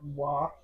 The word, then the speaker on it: Roy: His name is Patrick Waugh, but it's spelled R-O-Y.